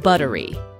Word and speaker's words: buttery: just like in butter the double tea in buttery is also pronounced as the fast D sound in the American accent and the word is also stressed on the first syllable buttery The Buttery is soft